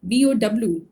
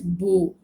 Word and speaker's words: bow: And the word with the same spelling, BOW, but if it is pronounced as bow, BOW, bow, which will rhyme with so, then the meaning is different.